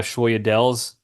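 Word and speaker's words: sfogliatelle: So the G is silent, so it's La Familia.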